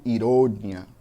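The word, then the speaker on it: ironía: No espanhol eu digo ironia, com a sílaba mais forte lá no final.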